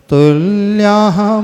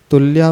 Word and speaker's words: तुल्याः: इसके उच्चारण में जो तृतीय चरण है, तुल्याः के बाद विसर्ग है। तुल्या भवन्ति नहीं पढ़ना, तुल्याः विसर्ग का उच्चारण आना चाहिए।